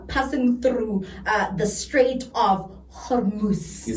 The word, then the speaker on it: Hormuz: Iran then retaliates from the accusations by actually seizing oil tankers that are passing through the Strait of Hormuz.